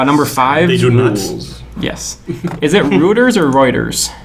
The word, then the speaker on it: Reuters: Is it Roers or Reuters? Reuters.